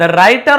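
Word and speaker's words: writer: द राइटर ऑफ the story says, the राइटर, W silent होता है, राइटर यानी लेखक, ऑफ दिस स्टोरी, इस कहानी का लेखक कहता है।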